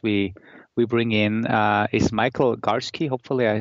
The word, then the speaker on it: Garski: and the guest we bring in is Michael Garski.